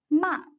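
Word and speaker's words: 骂: you will say stop the fourth tone is indicated using the word ma this character means scold in english ok please read after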